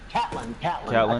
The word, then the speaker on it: Catelyn: It's not Catherine Stark. Catelyn. I knew it was something different. Catelyn Stark.